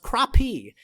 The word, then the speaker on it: crappie: bluegill tiger muskies and the regrettably spelled but pronounced crappie the crappie fish learned that one on the youtube channel